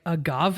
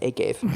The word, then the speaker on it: agave: This is also where we get the idea that agave is better for you, quote unquote. It's pronounced agave, but that's okay.